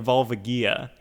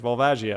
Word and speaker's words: Volvagia: I remember when I was a kid, I always called it like Volvagia. But then I heard someone online actually pronounce it. It's like Volvagia, and I was like, oh, that makes more sense.